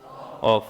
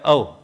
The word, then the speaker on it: of: अब इसको क्या बोलेंगे? ऑफ। ऑफ बोलते ही गलत होगा, ये होता है अव।